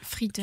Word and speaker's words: Frieden: Oui, Frieden. Tiens, Frieden à l'alsacienne, Frieden.